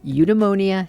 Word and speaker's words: Eudaimonia: And who better to start with than the founder of Eudaimonia himself, Sean Hess. Well, the first thing I should probably tell you is how to pronounce it, which is eudaimonia.